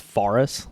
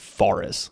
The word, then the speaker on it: Fares: Farest cuz like obviously it's far in at the beginning. I'm pretty sure I remember him pronouncing Joseph Farus cuz it's like F A R Far S.